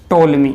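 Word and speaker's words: Ptolemy: हम कहते हैं क्लाउडियस टोलमी है है तो क्लाडियस टॉलमी वह व्यक्ति था है जिसके द्वारा Jio सेंट्रिक सिद्धांत दिया गया था इंग्लिश में पीस साइलेंट रहता है हिंदी में इसे हम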